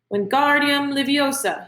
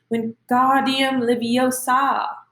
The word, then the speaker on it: Wingardium Leviosa: Wingardium Leviosa, he shouted, waving his long arms like a windmill. You're saying it wrong, Harry heard Hermione snap. It's Wingardium Leviosa, making the gar nice and long.